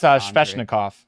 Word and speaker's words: Svechnikov: Can you pronounce that one? What's that one? That's Svechnikov. Yeah, Svechnikov.